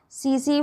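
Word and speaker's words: tsetse: इसका वेक्टर होगा सी फ्लाई। जो इसमें टी होता है वो साइलेंट होता है, से फ्लाई पढ़ेंगे।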